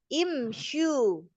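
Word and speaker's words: امشوا: Maka dibacanya imsyu imsyu. Nah, iya karena domahnya ini tidak asli maka dia dibaca kasrah.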